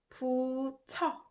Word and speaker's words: 붙여: And this one, as you guessed it, also produces ch sound. So it's pronounced 붙여. These two are pronounced 붙여.